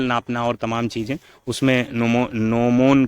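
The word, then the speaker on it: gnomon: है अगला क्वेश्चन है नोमो इज a part of ji silent है नो मोन क्या किसका पार्ट है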